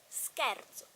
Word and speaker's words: scherzo: When S is followed by C and then A, O, U or H is pronounced sk. Example, ladder, scale, scorfano, type of fish, scudo, and scherzo, S-C-H-E, scherzo, schiavo, slave.